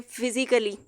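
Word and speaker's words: physically: अब ए यहाँ पे प्रोनाउंस नहीं किया जाएगा।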